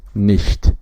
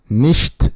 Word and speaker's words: nicht: The equivalent in German is nicht. Now you hear a different pronunciation from ch here, which is che. it is not exactly sh in English, but this is she, like someone who has a lisp, or instead of saying,